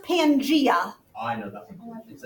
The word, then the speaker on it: Pangaea: It's pronounced Pangaea.